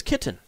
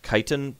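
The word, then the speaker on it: Kytyn: name my name is kitten she smiles perhaps that explains why I like birds okay again her name is actually supposed to be pronounced kitan but that doesn't make sense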